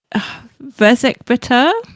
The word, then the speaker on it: Verzik Vitur: But alas, that gave us this moment where she asked about the pronunciation of Verzik Vitur. With Verzik Vitur, is that right?